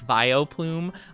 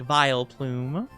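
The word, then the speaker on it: Vileplume: I have a problem of not really pronunciating the vile part and I sometimes will go like vio like almost like violent you know like viol plume but I mean to say it like vile plume it's plume cuz they're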